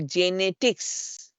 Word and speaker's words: genetics: for pronounce this J when the G comes before e i and I say example genetics so call the J actually we call the genetics it doesn't say the genetics right we don't say G